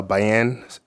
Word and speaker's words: Bayan: my name is uh Bayan pronounced Diane with a b um last name